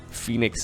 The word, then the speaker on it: Phoenix: Which bothers me a little bit, because, I mean, it's Dragon Phoenix Gaming, and it's DPG, even though, like, Phoenix is kind of pronounced with an F.